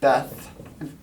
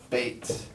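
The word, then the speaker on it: בית: Often it's pronounced Beth. There's lots of places throughout Israel which begin with this, but in reality it's that Beit. In fact, even today in Hebrew, they say Beit for a house.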